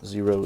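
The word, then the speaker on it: Xero: them these are from zero shoes the name zero is spelled with an X as you can see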